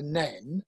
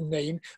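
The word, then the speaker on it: Nene: And the argument is that above Higham Ferris, it is the Nen, which is also the territory of Northampton Branch. And below Higham Ferris is the River Neen. But I believe it's the Neen. The locals will call it the Neen.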